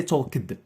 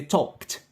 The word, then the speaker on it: talked: For example, the verb to visit, we pronounce it as visited. But for talk, we don't say talked, we say talked. Talked, like et at the end.